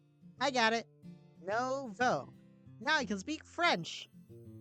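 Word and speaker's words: nouveau: It's pronounced Novo. Make the O sound at the end. I got it. Novo.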